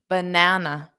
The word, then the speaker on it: banana: so repeat after me banana dada dada banana Dada banana so you can think of individual words as sounds as well that pattern of stress D daada Dada banana banana okay now this is